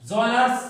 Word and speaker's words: genres: जॉनर्स pronunciation and spelling आप confirm करें, Geners।